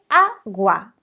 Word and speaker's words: agua: El problema es el sonido de A que tiene como ese golpe fuerte al inicio. El agua. ¿Ves? La sílaba tónica está en A.